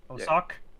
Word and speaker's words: Osoch: Osoch?